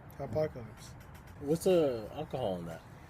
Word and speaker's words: Hopacalypse: And I was like, how? Hopacalypse? Yeah. And then I was like, oh yeah, duh. Apocalypse. Apocalypse. Yeah, Hopacalypse.